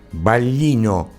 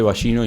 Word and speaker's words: Vallino: Espera, en la eventual eventual eh este Ballino, no digo bien el apellido. Sí, en realidad sí se podría decir de las dos maneras, pero creo que bien dicho está dicho balino.